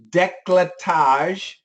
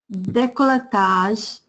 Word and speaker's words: décolletage: Décolletage. Décolletage. Suffragette. Suffragette. So décolletage, it's a ZH.